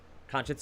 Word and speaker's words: conscience: you got it conscience conscience is correct for four points conscience is how i used to remember how to spell that still doesn't work because i still spell it wrong uh silent c five points the latin